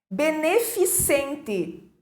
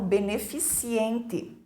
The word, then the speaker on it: beneficente: Beneficente, erradamente pronunciado como beneficiente.